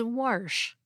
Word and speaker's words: wash: Next, a listener named Matt wants to know why some speakers of American English pronounce the word wash as warsh. This pronunciation is sometimes called the intrusive R, and like our recent